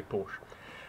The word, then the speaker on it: Porsche: say porsche is because in english-speaking countries you simply do not have that sound you don't have that er sound the e is silent and you say porsche however i understand there